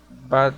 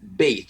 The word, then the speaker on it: bathe: I rarely get angry with my sister on Sunday because she doesn't bat the dog. She doesn't bathe. Se pronuncia con E. Bait. The dog. Bathe. Así se pronuncia.